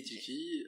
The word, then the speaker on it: Tilki: Pourquoi le nom Tilki et pourquoi le renard comme mascotte?